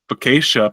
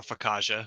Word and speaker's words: focaccia: He says, focaccia, pronounced focaccia?